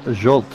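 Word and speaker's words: Zsolt: So apparently Mr. Kish's first name is pronounced Jolt.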